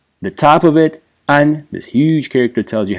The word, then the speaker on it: 安: And peace, the meaning, has nothing to do with